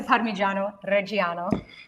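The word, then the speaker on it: Parmigiano Reggiano: Yes to parmyo. Reo. Say it like an Italian. Parano. Parmesan. We can say parmesan here because we're in America, but my dad would say parmyo reo.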